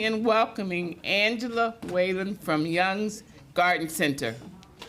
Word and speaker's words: Jung: Um, there is no wrong way of saying Jung or Young. They're both the same. The German name is Young.